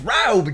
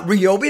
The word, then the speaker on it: Ryobi: bottle of Ryobi it's right over Jay it's not Ryobi it's right over you know this why are